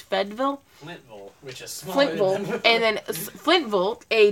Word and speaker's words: Fayetteville: Tennessee well Fayetteville which by the locals is pronounced fed Vil and then split volt a distant suburb of